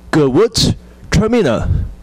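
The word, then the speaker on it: Gewürztraminer: It's called Gewurztraminer. Gewurztraminer. So we kind of divide into two parts of letters. Gewurz is the first part. The Traminer is the second part.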